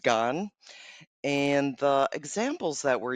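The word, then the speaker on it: 癌: cancer and explaining that it stood for, it's pronounced gan.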